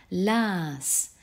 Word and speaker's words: las: Au prétérit, on le prononce également las. Et ce A est long, comme tu peux l'entendre.